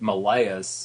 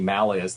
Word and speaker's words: Malleus: Uh although uh the guy in the song pronounced it Malayus in terms of classical Latin, it should be Malas, though God knows what Instaurus would have said.